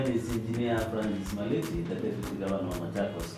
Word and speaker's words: Maliti: Marilyn is a local, so yes, pronounce the name very well. Yeah, so my name is Engineer Francis Maliti, the Deputy Governor of MAchakos County.